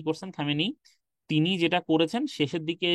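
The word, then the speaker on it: خامنه‌ای: তার দায়িত্ব আছে হ্যা খামেনি নেই যে খামেইনি না খামেনি আচ্ছা তো হয়ে গেল খামে নেই উচ্চারণটা আচ্ছা তো এই যে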